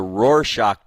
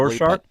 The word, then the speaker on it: Rorschach: Rorschach, I believe, is how it's pronounced, but you're close.